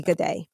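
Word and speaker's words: Guede: the name of rudy gaday this is another name you'll hear pronounce in a few different ways rudy goday was a 20 year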